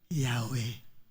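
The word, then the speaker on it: Yahweh: wh at pag binasa mo sa wikang pilipino yahwe kasi yung y bigkasin mo nga sa English mabibigkas mo ba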